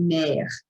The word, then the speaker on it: mer: A pronúncia quando tem necessariamente o R final, e não é um verbo, como eu citei aqui em cima, a gente vai dizer como é o caso de mer, significa mar.